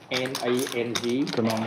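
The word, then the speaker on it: Đà Nẵng: How do you pronounce it? EANANG. Da Nang.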